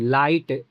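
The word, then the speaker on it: lite: क्या निकलेगा आई निकलेगा तो आई के बाद हमारा एक कंसोनेंट आया फिर ई आया तो इसका उच्चारण क्या निकलेगा काइट लाइट तो एल आई टी ई लाइट हमारा आई है आई के बाद टी है एक कंसोनेंट फिर ई है और ऐसा आपको हमेशा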